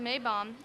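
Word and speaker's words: Maibaum: The Maypole, in German, pronounced Maybaum, is a tradition dating back to the 16th century.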